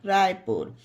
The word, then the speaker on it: Raipur: RAIPUR रायपुर, इसे राय पर नहीं जय पर नहीं पढ़ा जाएगा। पुल, पुश, पुट, पुस, जयपुर, रायपुर।